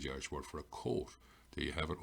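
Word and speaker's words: cóta: And the O being broad tells me the C is a broad K, coat, which is the Irish word for a coat.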